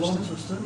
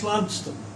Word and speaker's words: Launceston: Is that how you pronounce Launceston? Launceston, yeah. And in England, it's Ludston.